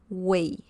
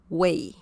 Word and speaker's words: güey: mainly used um so it's a very easy pronunciation Che the next one is Tio Tio okay and way way so that's the third one here way okay we Che Tio way okay and all